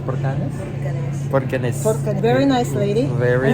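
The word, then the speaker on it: Borgarnes: That's how it's pronounced, Borganes? Borganes.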